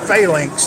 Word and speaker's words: Phlynx: So we built a phalanx, is what we call it, and we spell it PHLYNX, I believe. We spell it the incorrect way because the Y looks cool in it.